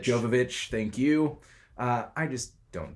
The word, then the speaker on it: Jovovich: love the Resident Evil franchise I love MIA Djokovic Jovovich Jovovich thank you I just don't do well with name pronunciation if you couldn't tell already I love